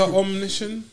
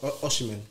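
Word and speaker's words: Osimhen: Is it Victor Omniscient? Oh my days. Did I say it right? Is it Omniscient or is it Oshimen? Oshimen.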